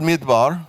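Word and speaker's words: מִדְבָּר: Midbar means wilderness. But that same word can be pronounced medaber, which means to speak.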